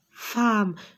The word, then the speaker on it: femme: ferme avec avec sa femme regardez ici j'ai la lettre e mais je la prononce à f e femme au regard des oeufs